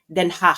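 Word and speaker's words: Den Haag: Ang pronunciation non ay Denhah.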